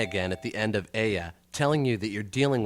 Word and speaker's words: ella: at the end of aya telling you that you're dealing with a feminine word remember to pronounce the double l like a y we're not dealing with ella fitzgerald here aya is the third